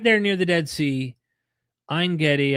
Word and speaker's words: Ein Gedi: Ein Gedi, I believe it's called, is how you pronounce it, which we actually went to.